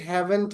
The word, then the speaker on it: haven't: বলবো, এই যে হ্যাজেন্ট, হ্যাভেন্ট, হ্যাজেন্ট, don't, doesn't, এই যে লাস্টে যে ঠ সাউন্ডটা এটা উচ্চারণ হয় না।